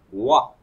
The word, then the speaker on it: oie: Le mot oie, avec un E muet à la fin.